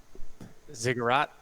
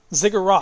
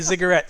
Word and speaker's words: ziggurat: the word again how do you say it ziggurat ziggurat you're gonna beat me i'm gonna start saying it wrong i keep saying i don't know why i say cigarette ziggurat you're on top of this cigarette and